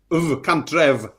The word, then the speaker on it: Cantref: Cantref, that's how you say it, isn't it? Cantrev. Oh, yeah, because the single F.